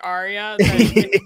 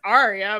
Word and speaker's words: Arya: well it kills me the ones that can't pronounce the r in arya's name and they say like it's like that's the moment you realize george r.r martin is not english because he wrote a name like arya you say it as